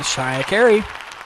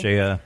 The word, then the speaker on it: Cheya Cary: Wow, you pronounced both of our names right. It's a pleasure to be here. Well done. You've done your homework. Jeez. People say Clare Dickinson and Cheya Cary. Cheya.